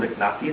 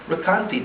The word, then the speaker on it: Recanati: There are those who call him Riknati, there are those who call him Recanati, just like there are different pronunciations of Abarbanel.